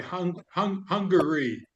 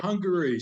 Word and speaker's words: Hungary: Oh, sorry, Hungary. Three Yes. syllables, Martin. Hungary.